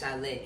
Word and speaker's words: Shyy: And my real name is Shyy. Shyly. Shyy. Shyl. How you? Okay, Shyly. Shyly. Yeah, so yeah, it's Shyy.